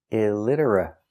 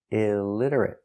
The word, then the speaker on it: illiterate: the person is illiterate let's look at the pronunciation pronunciation illiterate it i i d idid That's right The T is pronounced with a d between vowels pronounce dter R Ritter uhit illiterate illiterate illiterate stop T at the end illiterate illiterate illiterate four syllables stress on the second syllable illiterate stress on lid illiterate illiterate he cannot